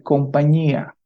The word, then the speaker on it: compañía: Vamos a pronunciar compañía. ¿Sí? Recuerden que en español tenemos mucho este sonido. Ñe. Español, compañía, niño, etcétera. ¿De acuerdo?